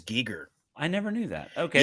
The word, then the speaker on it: Giger: i've always said h.r geiger he pronounces it as geeger i never knew that